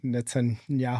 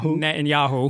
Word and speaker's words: Netanyahu: The president of Israel, Netanyahu. Netanyahu. Netanyahu.